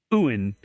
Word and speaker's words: yuan: The woman refused, so the man demanded 300 Chinese yuan, which, yes, Brian, I looked up the pronunciation. Oh, Chinese yuan. currency, and it's yuan, which is about $47.